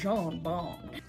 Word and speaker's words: Jean Bon: named Jean Bon and he'd say it like my name is John Bon I'm John bone what's your pleasure and